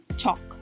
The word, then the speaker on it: chalk: Chalk. Notice the silent L.